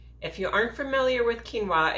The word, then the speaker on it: quinoa: If you aren't familiar with quinoa, it's typically found near the rice at the grocery store. The trick is that it's pronounced very differently than it's spelled.